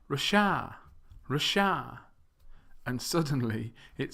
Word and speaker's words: Russia: You may have noticed that the last 2, Brazil and Japan, have the stress on the second syllable, whereas the first 3, Russia, Thailand, and China, have the stress on the first syllable.